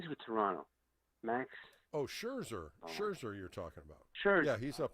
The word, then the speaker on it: Scherzer: Oh, Scherzer.